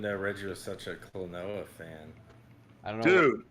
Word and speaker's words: Klonoa: Max Online says I just got Klonoa.